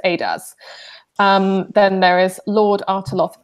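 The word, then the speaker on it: Eadaz: Her full name is pronounced Adas.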